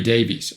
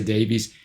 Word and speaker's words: Davies: band leader, and above all chief songwriter, Ray Davies. Or Ray Davies, I know it can be said both ways. I'm going to say Davies.